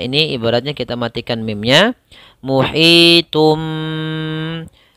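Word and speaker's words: مُحِيطٌ: Muhitum. Cara membacanya adalah kita tahan dulu suara tumnya baru masuk ke ba.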